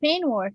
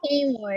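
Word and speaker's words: peignoir: It's pronounced pain war, yes.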